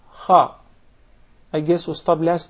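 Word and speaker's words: خ: The letter Kha, the mechanism is to precede this letter with a Hamza, and we put a Fatha on top, so it will be A. Then apply a Sukoon, you see this Sukoon on top of the letter. Then pronounce the two letters together, say them together with the proper vowels which we chose.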